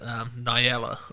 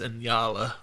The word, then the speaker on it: Nyala: I always pronounced it Nyala, but I got corrected on one of my earlier podcasts. That's Inyala, or however you pronounce it.